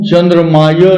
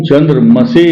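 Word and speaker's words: चन्द्रमसे: जगह त्रुटि करते हैं ओम चंद्र माय नमः यह नहीं होता यह गलत है ये अनुचित है सही क्या है ओम चंद्र मसे नमः ये शुद्ध रूप उच्चारण कीजिए मोती धारण कीजिए आपके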